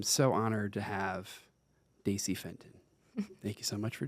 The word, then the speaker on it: Fenton: And today, I'm so honored to have Daisy Fenton. Thank you so much for joining us. Thank you. I'm happy to be here. Did I pronounce your last name correct? Yes, you did. Fenton.